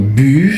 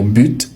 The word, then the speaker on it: but: On peut dire but sans le thé, c'est très courant à l'oral. On peut également dire but avec le t prononcé.